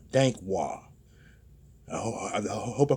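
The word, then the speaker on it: Dankwah: Dankwad, D-A-N-K. I think that's Dank. And W-A-H. It's Wah. Dankwad.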